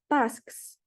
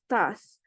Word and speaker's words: tasks: Like for example here, the word tasks, tasks, not just tasks. So you have to pronounce the K and S as well.